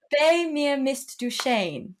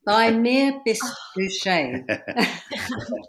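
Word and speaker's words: Bei mir bist du schön: your second song now, which I butchered the pronunciation earlier. I'm going to try and say it right now. Is it Bei mir Mist du Shane? Bei mir Mist du Shane.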